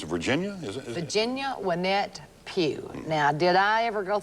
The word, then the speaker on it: Pugh: Virginia Wynette Pugh.